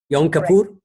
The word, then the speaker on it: Yom Kippur: that you that the Jewish tradition observes on Yom Kippur if I remember correctly do I pronounce it correctly Yom Kippur correct tenth of that yes and Mohammed when